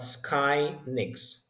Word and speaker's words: Skynix: max not more so skyx it's the correct pronunciation not SK as somebody SS but Sky ni that's how we call ourselves we are basically